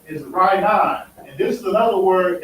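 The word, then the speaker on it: רענן: But it'll be Rainan. That's how you pronounce it. Rainan.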